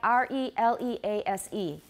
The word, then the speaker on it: release: good but is that that's a long e but we don't want to make it too long because what the e sound excuse me the e sound in the second syllable we don't want to make it too long because what is it okay to say release well people say it it's really common in taiwan there's a further mistake